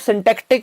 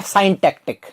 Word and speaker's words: syntactic: इफ आई से the pronunciation of this word is सिंटैक्टिक एंड नॉट साइंटैक्टिक, right, तो मैं आपको प्रिस्क्राइब